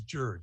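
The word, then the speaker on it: jird: gonna be the shaw's jared it's spelled j-i-r-d but i don't think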